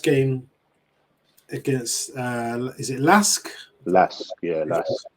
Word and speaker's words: LASK: Lask, yeah, Lask.